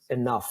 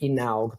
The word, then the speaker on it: enough: And that changed everything because until then, I could not even pronounce the word enough. I used to say inaug because Italians are notoriously like we tend to read in Italian, you speak as you write.